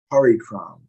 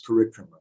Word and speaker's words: parikrama: Sometimes I hear from Prabhupada disciples and I hear them speaking about parikram, or they say things, sometimes the pronunciation is a little funny. It's parikrama, not parikram.